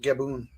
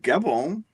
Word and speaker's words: Gabon: By the way, I've also heard it pronounced Gaboon. Gaboon. Is there a country called Gaboon? He's sitting in like all of his pictures just like that. Mellow. There's a country called Gabon.